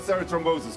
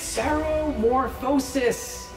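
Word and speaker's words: ceremorphosis: everything you know about Sarah Moses come on it's Sarah morphosis yes I'm not gonna tell you until you can pronounce it correctly Sarah wore this process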